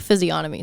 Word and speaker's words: physiognomy: No, there's the G is actually, you pronounce the G. Okay. I think physiognomy sounds normal, but whatever.